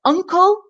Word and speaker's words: uncle: so they're often mistaken Uncle your mom or dad's brother so un the first syllable is stressed and the sound at the beginning is UN un sounds like unle unle